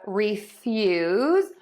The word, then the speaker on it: refuse: So we have refuse, which is the verb meaning to deny, and we have refuse, which is a noun meaning garbage.